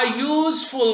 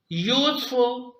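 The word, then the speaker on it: useful: दे रहा है आ यूजफुल book यूजफुल आपके साथ में मुफीद की साउंड दे रहा है यानी ये यू की साउंड दे रहा है फरदर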